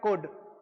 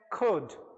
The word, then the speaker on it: could: इसका प्रोनाउंसिएशन होता है कोड। अगर मैं फॉरेनर्स की बात करूं तो फॉरेनर्स इस वर्ड को प्रोनाउंस करते हैं खुद खुद। वी are Indians so we need to speak like a Indians, right? So the pronunciation of this word is कोड।